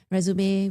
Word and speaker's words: résumé: Rumé, which is the more appropriate term is three syllables.